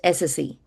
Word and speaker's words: SSE: So, which brings to 2021, the third acronym, which is the one that Gartner introduced, SSE, Security Service Edge, pronounced SSE, not SE.